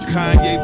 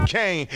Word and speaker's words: Kanye: Now all I need is y'all to pronounce my name is Kanye, but some of my plastics still say Kane.